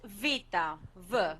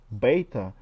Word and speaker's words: beta: us of Greek um in modern Greek it's Vita Vita Vita okay let's hear how Stan pronounces in the Greek alphabet is better it gives us a sound as in the word bad do you uh I mean that's totally different it's not Vita it's not it's beta could you explain us